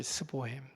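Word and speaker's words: S Bohem: 항상 악보의 맨 위에다가, 체코어로는 발음이, 제가 발음을 물어보니까 스보햄이라고 얘기하더라고요. 스보햄. 영어로 이제 S 보햄 이렇게 써놓는데 발음을 스보햄이라고 얘기하더라고요.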